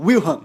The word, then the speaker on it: Wilhelm: onde Guilherme de Orange, como é que se pronuncia? Wilhelm, né?